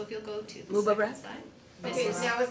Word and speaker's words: Mubarak: So it is Mubarak, and it is greetings, it is congratulations, it's everything in that celebration. So if you'll go to the Mubarak.